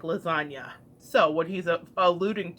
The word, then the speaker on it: lasagna: move in silence like lasagna so what he's a ludic to is the fact that the G in lasagna is silent and yet it is